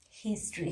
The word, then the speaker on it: history: Exceptions are here, history. Here means H-A-I-R, here, history, historical. This kind of words, H is not silent.